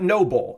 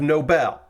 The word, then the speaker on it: Nobell: You may also recognize the Nobell as the Noble Gundam, because in the English dub of G Gundam, they just called it Noble instead of Nobel.